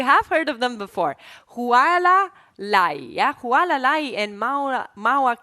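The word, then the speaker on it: Hualālai: Yeah, that's a nice pronunciation there. Mauna Kea. And the other one is Huala Lai. Oh, just checking. Okay, so you have heard of them before. Huala Lai, yeah?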